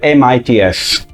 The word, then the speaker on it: MITS: chiamata MITS perché loro volevano che si pronunciasse MITS, per ricordare un'altra sigla simile che avrete già capito, che è l'MIT, il Massachusetts Institute of Technology.